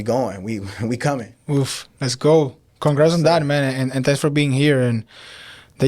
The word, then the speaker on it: Geaux: Go is spelled Geaux. I'm from Louisiana, born and raised.